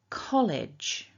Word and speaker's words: college: So it's almost like you're swallowing that sound, a dark L, coal. And our second syllable then, we've got that short I, and then j. So idge, idge. So repeat after me nice and loud. College, college.